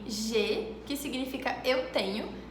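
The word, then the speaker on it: j'ai: A com I em francês tem um som de E, como em G, que significa eu tenho, G.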